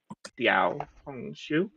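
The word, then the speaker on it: 小红书: Sorry, I was just listening to pronunciation, and it sounds like you don't pronounce it as an X, but an S. So it's like Xiao Hong Shu. Like you could hold the S for a little bit, like Xiao.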